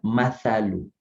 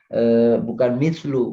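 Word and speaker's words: مَثَل: Nah, itu bacanya masalu. Masalu. Perumpamaan ya. Jadi bukan mislu. Kalau mislu artinya seperti, tapi kalau masalu artinya perumpamaan.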